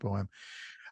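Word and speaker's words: Boam: written by Jeffrey bohem the b-o-a-m I believe it's pronounced bohem uh he had done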